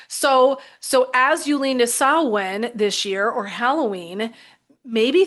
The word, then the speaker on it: Samhain: So first things first, we are going to talk about the holiday of Halloween, and it's actually pronounced, hopefully I'll get it as correctly as I can, Samhain, which is coming up, and that's the day between October 31st, November 1st.